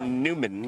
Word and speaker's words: Newman: And we did get confirmation is pronounced Newman according like the Seinfeld character.